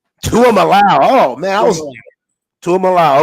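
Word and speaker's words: Tuimoloau: me out a little bit how do you pronounce my man on the edge JT Tu mly Luau two allow two allow oh man two of allow okay yeah I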